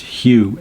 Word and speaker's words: Hu: In the Sufi tradition that you chant, and the meditation I have there is to chant Hu, H-U, and it's kind of pronounced in between Y-O-U and H-U-E.